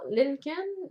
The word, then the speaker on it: Lincoln: Oui, j'ai trouvé l'information, là, c'est le mouton Lincoln, mais il y a un L avant le N, fait que je sais pas comment. Non, Lincoln. Lincoln, Ouais, pareil, Lincoln, ouais, le L C'est- est muet.